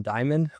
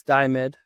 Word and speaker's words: Diomedes: I want to call him Diamond, but I don't think that's how you pronounce it, but it's Damed.